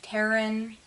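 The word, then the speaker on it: Tern: the I pronounce it turn I don't know if I'm pronouncing it wrong and it's Taryn I pronounce it turn I don't care it's t-e-r-n I love this gray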